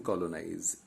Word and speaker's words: colonize: There are three syllables in colonize.